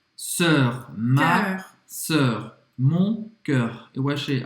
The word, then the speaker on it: cœur: O som é igual. Sœur, cœur.